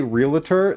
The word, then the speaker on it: realtor: Cuz if you say realtor, there's no second a. That's the like I think the other pronunciation of that one like includes a letter that doesn't actually exist.